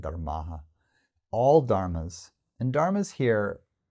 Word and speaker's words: dharmāḥ: All dharmas, sarva is all, dharma is dharmas plural, there's a long A on the end, dharmāḥ.